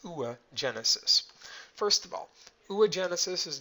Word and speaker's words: oogenesis: Now, for women, the process is a little different, and I believe it's pronounced oogenesis.